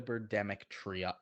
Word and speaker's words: Birdemic: As much as we've enjoyed the Birdemic trilogy, that's how you say it.